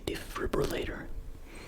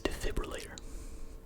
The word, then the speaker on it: defibrillator: Sometimes I say defibrillator, but that's wrong. It is defibrillator.